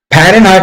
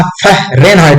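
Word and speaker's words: Fahrenheit: फरेनहाइट नहीं होता फरेनहाइड होता है।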